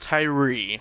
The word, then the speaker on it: Thuirer: was interesting alright alright so it's pronounced Tyree yeah but it's felt